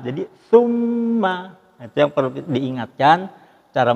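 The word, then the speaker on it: ثُمَّ: Nah, kesimpulannya ada sedikit ini, bahwa pada saat summa ini huruf sa ini cara membacanya, jadi nanti bukan summa, tapi summa itu lidah kita di ujung gigi depan. Jadi summa, itu yang perlu diingatkan cara membacanya ini.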